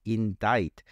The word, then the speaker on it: indict: charge formally for a crime please note the pronunciation it is indict the sea is silent in this word so